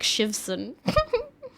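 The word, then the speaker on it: Siobhan: and fall of feminism Irish name so full name is shiv MC shivon yeah and jam how do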